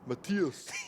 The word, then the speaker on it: Matthias: when I'm from Denmark, you have to say Matthias. I say Matthias. I thought you said Matthias. Well. Matthias. So I'd rather just call them DM99. Matthias. I've got it now. That's basically how you say it in Danish, even though it sounds hideous.